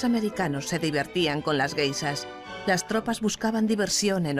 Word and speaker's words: geishas: Los soldados oyeron hablar de las geishas, guisas, como ellos pronunciaban, y creyeron que las chicas que se acostaban con ellos en los parques eran guisas.